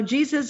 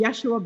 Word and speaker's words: Yeshua: And they said, Jesus is not really the way we say our name. The way I say my name. My name is Yeshua ben Joseph of Nazareth.